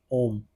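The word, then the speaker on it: hommes: El cone dash om. Om is the pronunciation here, which means men, since it is in plural form and it is starting with a silent H.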